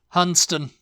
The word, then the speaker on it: Hunstanton: yes all right hunon when in doubt just leave off an entire part of the word and you know if all else fails yes if all else fails just just completely don't even act like the end of the word is there and H hunston okay